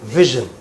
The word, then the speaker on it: vision: vision Vision. for the It is. Pronounce this word right. Aparna, just wait there. Keep standing. Vision. Yeah. You know, like you say, shh. Similarly, it is vision.